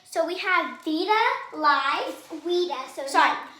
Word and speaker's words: vita: Vita. So all the V's are pronounced as W's in Latin.